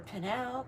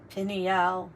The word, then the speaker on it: pineal: your third eye vision your panal gland pineal gland let's pronounce it crack him and the